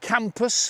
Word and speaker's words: Cambois: Why is it called Cambois? Well, some people say that it was called Campus for a while. Right. Cambois. But it's spelled with a B, isn't it? It's spelled Cambois, Yeah. from the French.